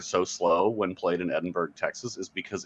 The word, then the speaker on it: Edinburgh: Edinburgh or Edinburgh it's Edinburgh there's no h at the end oh that's horrible right